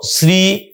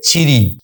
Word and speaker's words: শ্রী: বাংলাতে এসেও শ্রী এই কথাটি প্রচলিত হচ্ছে তৎসম হিসেবে, বাঙালির উচ্চারণে আবার পাল্টে হয়ে যাচ্ছে ছিরি, এইটাকে আমরা বলছি।